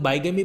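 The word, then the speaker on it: bigamy: बिगेमी कह दो, कुछ लोग बाइगेमी प्रोनाउंस करते हैं, एक ही बात है, यानी कि द्विह विवाह, क्या बोलते हैं?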